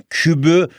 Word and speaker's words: küpü: Okunuşu da 3'ün kübü diye okuyabiliyoruz evladım benim. Ve bir sayının o zaman kübünü bulmak istiyorsak bak kübü diye okuyorum ama küpü diye yazıyorum unutma.